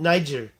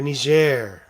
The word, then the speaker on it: Niger: I think this is in Niger or Niger. It's best to just go there and find out how they pronounce it, because Niger is definitely a French pronunciation.